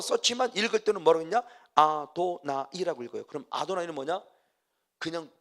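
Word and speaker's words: אֲדֹנָי: 그래서 이들은 쓰기는 여호와라고 쓰고 읽을 때는 뭐라고 있냐? 아도나이라고 읽어요. 아도나이.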